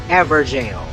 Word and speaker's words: Evergaol: Same goes for Evergaol. It’s really ‘ever-jail.’ Anyhow, it was just near the River Bank bonfire.